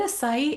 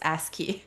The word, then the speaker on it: ASCII: That's actually how it's a good friend of mine where we were chatting and I'm like, is it acai? And she's like, no, it's ASCII.